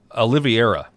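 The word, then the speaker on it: Oliveira: Oliviera. Yes. Oliviera is how you say it.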